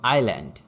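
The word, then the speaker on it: island: Silent S, যেমন আইল্যান্ড মানে দ্বীপ। Japan is অ্যান আইল্যান্ড country, Japan is অ্যান আইল্যান্ড country, Japan একটি দ্বীপ দেশ।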